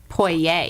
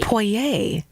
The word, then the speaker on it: Poirer: on names that like it sounds French it is French and it's pronounced poer poer see I probably would